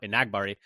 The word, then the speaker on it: Enagbare: mention, Enagbare as well, which I'm trying to do a better job of pronouncing his name how he pronounces it. We've been saying it wrong for a long time, so we're trying to, correct that now. Enagbare is how he says it.